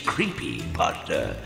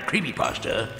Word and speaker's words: Creepypasta: Yes, see, you have to say my name correctly. It's Creepypasta, not Creepypasta. There's a space between the words.